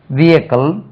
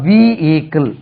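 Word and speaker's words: vehicle: இ வெகிக்கல் இல்லை இதுக்கு ரெண்டு உச்சரிப்பு விய எக்கல் விக்கல் விக்கல் விக்கல் இல்லைன்னா வி ஈக்கள் வி ஈக்கள் இப்படி நாங்கள் ஈக்கள் என்று சொல்லணும் விகிக்கள் இதுக்கு வெகிக்கிள் நான் ஒரு வெகிக்கிள் எடுத்தேன் அது என்ன வெகிக்கிள் விக்கல் விகிக்கள் ரெண்டு உச்சரிப்புல எது வேணாலும் சொல்லுங்க but there is நோ h in that விக்கல் வீக்கள் அதே மாதிரி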